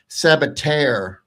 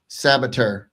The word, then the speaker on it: Sabater: Yeah, and in Spain they actually pronounce it Sabater, like Tair, Sabater. But I guess he's kind of maybe shortened it a little bit, because he definitely said to me Sabater.